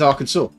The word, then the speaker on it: Arkansas: They have a Kansas and something is spelled Arkansas, and it's Arkansas.